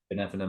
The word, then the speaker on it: Binevenagh: Benevenagh Mountain. Yeah, It's like Benevena.